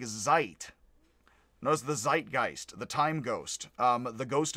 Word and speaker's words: Zeitgeist: But that would be, in English, you would say zeitgeist. It would be zeitgeist, I believe, is a bad pronunciation still, of German, because S and Z are switched in German.